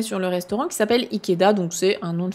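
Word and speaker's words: 池田: C'est pas ta, ici c'est da. Ikeda, c'est un nom de famille assez courant.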